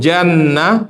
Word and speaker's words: Jannah: Kalau jannah, surga. Maka ada ibu namanya Nur Jannah. Jangan Nur Jinnah ya.